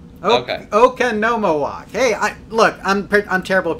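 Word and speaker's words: Oconomowoc: So, and let's see, Jeepers Creeper says it's Okanomowoc. Okanomowoc. Hey, I'm terrible at pronouncing things anyway, so there you go.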